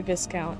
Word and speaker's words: Viscount: Viscount is pronounced. I know I keep saying Viscount and then I say Viscount.